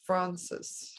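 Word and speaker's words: Fraunces: 5th at the um probably pronounced around francis tavern museum also yes francis was that close hopefully it was yeah f-r-a-u-n-c-e-s tavern museum yes francis so the event answers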